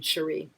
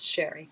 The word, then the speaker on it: Cheri: And I'm not, maybe you pronounce her name Cherie, but I think it's Sherry.